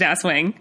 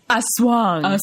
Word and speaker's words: Aswang: It's not pronounced Aswang. It's Aswang.